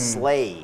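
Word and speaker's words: sleigh: ด้วย slay นะ ฮะ เป็น เสียง แบบ ควบ นะ ฮะ เป็น A E A slay ฮะ SL อาจ จะ ไม่ รู้ ตัว ด้วย ซ้ำ นะ ฮะ ว่า ออก เสียง ว่า SL เหมือน กับ เรา จะ บอก เพื่อน ว่า ไป ทล ทล ใช่ ไป ทล จะ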